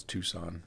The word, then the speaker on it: Tucson: I always read that as Tucson, but I know it's Tucson. I'm not supposed to pronounce the C.